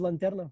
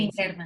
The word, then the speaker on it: linterna: le quita la lanterna, no se dice lanterna, María João, sí, Linterna. la Internas.